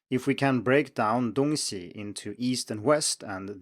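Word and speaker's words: 东西: point out here that dong si with the first tone on the second syllable as well actually does mean east west and can be used as such too but here it's donxi with a neutral tone on c and that means thing or stuff so even if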